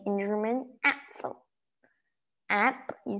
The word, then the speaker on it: Apfel: Then you say in German, Apfel. App, you say the app, you know, the game apps or whatever apps. Apfel.